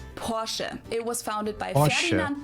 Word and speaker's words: Porsche: I've heard Americans pronounce it Porsche or Porsche. In German we say Porsche. So there's like this short a sound in the end. Porsche.